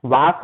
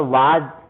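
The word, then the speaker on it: was: वर बोलते हैं इसको, और इसमें ज का होता है, वास ना होकर वाज, इस प्रकार से उच्चारण होता है।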